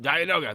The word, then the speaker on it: Dianoga: Yep, Dianoga.